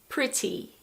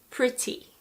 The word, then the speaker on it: pretty: In British English, normally you pronounce the T like a normal T. Pretty, pretty. In American English, often the T is more like a D.